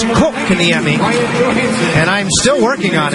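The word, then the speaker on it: Kotkaniemi: And the key is, in Finnish, yes, Barry, you pronounce the first part of the first name, you magnify that, and then it's Kokaniemi.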